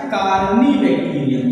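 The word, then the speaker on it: Corynebacterium: है, तो इसका है कार्नी बैक्टीरियम। ये क्या होगा, कार्नी होगा। इसे क्या पढ़ेंगे, CORYN, कार्नी होगा ये, ठीक है।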